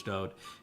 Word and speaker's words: Dod: His name is Dod. For people that don't like it pronounced that way, that is the way that he wrote it in all of his own psalms.